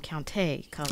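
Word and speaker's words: Countee Cullen: I've heard now that he pronounced his name Counte Cullen.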